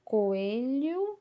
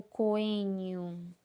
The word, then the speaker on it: coelho: A gente fala coelho ou coenho, tá? Então, quando for esse som do L, é o LH.